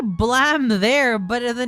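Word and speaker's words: BLAME!: It's meant to be blam as in the sound of the gun, but for some reason they spell it blame.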